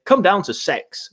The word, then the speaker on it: CeX: square across the world from cex which apparently is pronounced sex but i'm not going